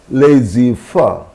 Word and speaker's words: laissez-faire: Already I told you about this word, and laissez-faire. So these two French words, in these two French words, Z is silent.